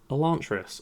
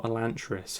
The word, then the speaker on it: Elantris: And the next one is his first published novel, Elantris, or Elantris, however you want to pronounce it.